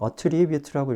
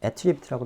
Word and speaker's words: attribute: attribute라고 읽어서 동사로 읽으면 A를 B의 탓으로 하다 이런 뜻으로 많이 쓰이지만 이게 attribute라고 명사로 읽으면 특징이라는 뜻이 되죠.